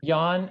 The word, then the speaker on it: Jan: Jan. Jan, okay. Now the J is silent.